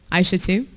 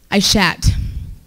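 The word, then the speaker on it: Aishatu: So you would think it's pronounced Aisha too, but it's actually pronounced Aishat.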